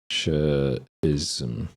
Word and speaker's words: Nietzscheism: Nietzscheism is the proper pronunciation.